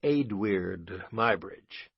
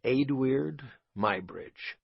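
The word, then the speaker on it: Eadweard Muybridge: There is one unusual obstacle to speaking about Adid Mybridge as he is usually called, namely that my subject's name cannot be pronounced. It can hardly be spelled. The best I can do aloud is Adid Mybridge.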